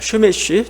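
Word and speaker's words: שמש: 그 태양이란 단어가 히브리어로 쉐메쉬입니다. 쉐메쉬, 좀 발음이 좀 그렇지만 쉐메쉬.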